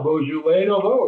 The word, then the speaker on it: Beaujolais Nouveau: Am I pronouncing it correctly? Beaujolais Nouveau. Beaujolais Nouveau, yes.